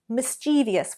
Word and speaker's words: mischievous: Well, in America, the Harvard Dialect Survey found that 26% of Americans actually pronounce mischievous with 4 syllables.